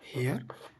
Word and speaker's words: hare: HARE, हेयर। This is also pronounced as हेयर।